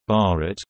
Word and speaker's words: Bharat: The geographical term Bharat, pronounced B-A-T, listen, which is recognized by the Constitution